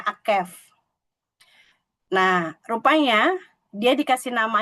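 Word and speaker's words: עקב: Sementara kalau tumit itu bacanya Akef.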